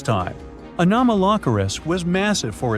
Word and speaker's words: Anomalocaris: The name is a bit tricky to pronounce, so I'm not going to. Okay, it's Anomalocaris, but it just literally means unusual shrimp.